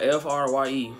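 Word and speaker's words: Frye: Her name is spelled F-R-Y-E. Fry. Like you fry.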